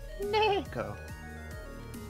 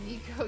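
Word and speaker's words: neko: just appreciate japanese culture it's nayco no it's necko not pronounced nico you cis white male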